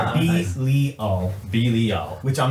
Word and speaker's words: Belial: Oh, Axis of Entropy says the pronounced in Hebrew is Belial. Did he just spell it? he spelled out the pronunciation. Belial.